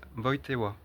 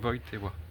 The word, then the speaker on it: Wojtyła: son nom se prononce Wojtyła, parce que le J se prononce J en polonais, le Y comme un E accent aigu, et le L est barré.